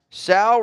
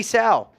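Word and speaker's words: Sow: all right let's look Sal rhymes with cow yeah that's Tom's notes CT Sal all right so it's CT we're going with it C T Cell rhymes with cow yeah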